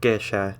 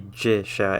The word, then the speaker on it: gesha: Every time you see a G, it's going to be what's called a hard G, like in the word gate in English. It's never going to be like giant, where it makes a sort of J sound. It's always going to be a hard G. So it's gesha and not jisha.